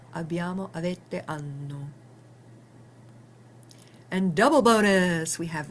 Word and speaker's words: hanno: Notice that the initial acca is silent. So, o i a, abbiamo, avete, hanno.